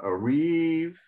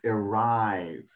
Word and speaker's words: arrive: and you know why you can tell because the the silent E there's only one consonant before it consonants so with only the one V then the I is more likely open if there was two